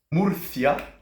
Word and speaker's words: Murcia: juste ici pour vous c'est quoi Muria hein le C qu'on va bien prononcer et les habitants de Murcia vont être les Murciano